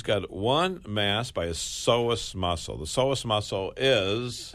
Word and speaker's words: psoas: s o a s now why is there a p there I don't know well the p is silent right yeah now when I was a kid we used to say the p is silent like in swimming so it's psoas muscle so he's got